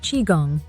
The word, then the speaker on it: Qigong: something beneficial for everyone chiong pronounced chiong has Origins dating back